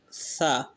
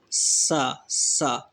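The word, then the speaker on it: ث: Actually, some people pronounce this alphabet sa. They pronounce with the sound of whistle. Sa. This is wrong. When we pronounce, so we will pronounce to avoiding the sound of whistle. Sa. Okay. Sa. Sa. Not sa.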